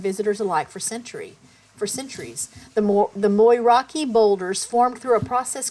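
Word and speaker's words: Moeraki: Moraki is pronounced as Moiraki. Here's the breakdown. Mo. Okay, so it said Moraki is pronounced as Moiraki. It looks like it would be more like Moiraki, doesn't it?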